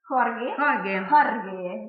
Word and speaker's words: Jorge: Jorge, proprio la pronuncia spagnola.